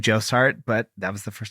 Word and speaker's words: Aaron Jossart: But I'm here with someone named Aaron Josart. Did I pronounce everything correctly? That is totally correct. Well done, Philly. Thank you. I saw the name Josart, but that was the first time I've said